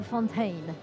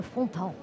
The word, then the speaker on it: Fontan: Frédéric Fontan. He's not a Fontaine. He's a Fontan.